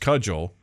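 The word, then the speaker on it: CUJL: um so check that out if you're in that area uh the competitive underground Jugger League pronounced cudgel is in the American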